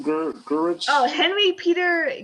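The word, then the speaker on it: Gyrich: Peter, how do you pronounce his last name? Gurich? Oh, Henry Peter Gurich.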